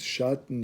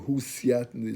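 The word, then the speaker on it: Husiatyn: Shatner, or Husiatner, is two ways how to pronounce it.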